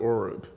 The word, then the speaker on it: Horeb: spoke to us in Horeb, Mount Horeb. Some pronounce it Oreb.